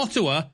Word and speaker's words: Ottawa: Ottawa, and I'm probably pronouncing his name wrong. Oh. All right, okay. It's Ottawa, as in something that is a bit more like an otter.